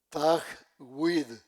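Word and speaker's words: تجويد: Ellos, los ilámicos, recitan en oración en una prosodia que se llama Tag Wid. Se escribe t a j W i D.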